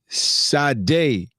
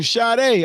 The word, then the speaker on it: Sade: Sade, pronounced like the singer. Oh, Sade.